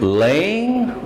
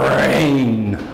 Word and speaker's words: rain: out the door as is it Lane was expected or rain was expected it's the R sound to get to try